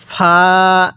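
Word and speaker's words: ف: এরপরে এই হরফটির নাম হলো ফা। হ্যাঁ, এই হরফটির নাম কি? ফা। দেখুন ফাটা উচ্চারণের সময় মুখ দিয়ে একটু বাতাস বের হবে।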